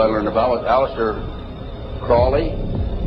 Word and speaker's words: Crowley: matters that I developed information about was an individual I learned about was Aleister Crowley. He likes to have his name pronounced Crowley to rhyme with holy.